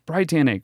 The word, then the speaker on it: BriTANicK: Yeah, at first I was like, no, it's BriTANicK.